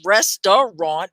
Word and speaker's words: restaurant: restaurant restaurant okay so it looks like it's three syllables restaurant but you don't say that second syllable right you say restaurant restaurant restaurant did you say